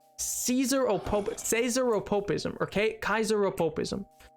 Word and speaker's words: Caesar: pretty sure of now in actual Latin it would have been pronounced Kaiser and not not Caesar which the sea should